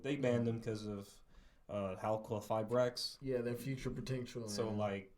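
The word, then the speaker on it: Halqifibrax: Halqua-Fibrax.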